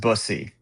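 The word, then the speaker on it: Bussi: But it's pronounced it's pronounced busy.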